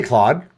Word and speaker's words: Claude: For example, if you prefer to write backend code, then they say that Cloud, is it Cloud or is it Claude or what's the correct pronunciation? I say Claude.